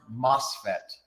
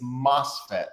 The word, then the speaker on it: MOSFET: much information but anyway um and it's it's pronounced mosfet it's n it's mosfet yes it's an N no isn't isn't mosfet